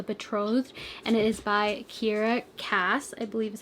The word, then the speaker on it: Kiera Cass: book called The Betrothed, and it is by Kiera Cass, I believe is how you say her name, and she's the author of the selection.